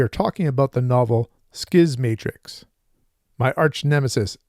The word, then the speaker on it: Schismatrix: talking about the novel skis Matrix my arch nemesis pronunciation rears its ugly head in this video see how many times I say shiz Matrix instead of skis Matrix and now on to